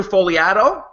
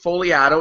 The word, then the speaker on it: Fogliato: him on Twitter Andrew folato now I have to spell it uh f o g l a t and his 160 Twitter bio reads the g is silent that's the first thing